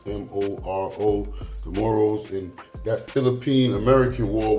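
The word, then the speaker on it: Moro: there was a group of rebels called the morrows excuse me I'm pronouncing it wrong it's m-o-r-o the morals and that Philippine American war went from like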